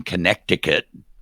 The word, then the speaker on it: Connecticut: Our I had an English teacher in fourth grade that made me pronounce that second C in Connecticut. Connecticut. I'm like, "No one says it that way. It's Connecticut for everybody else."